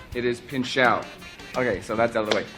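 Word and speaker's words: Pinchot: Bronson Pino hosts on Valentine's Day Don Paro mispronounced my name it is not Pino it is pinou okay so that's out of the way we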